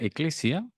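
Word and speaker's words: ἐκκλησία: iglesia significa asamblea congregación esto es una palabra griega eh se pronuncia eclesia y este es el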